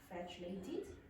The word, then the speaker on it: frustrated: He became frustrated when no one listened. Frustrated. Now, it sounded almost like flatulated or flatulent.